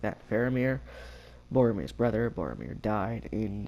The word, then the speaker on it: Faramir: Faramir, Boromir's brother.